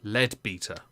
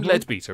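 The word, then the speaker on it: Leadbeater: lets you name things it's probably lead beta because it's spelled l-e-a-d i'm sorry but lead is spelt the same way and lead beta is a lot funnier kim ledbeter is the sister of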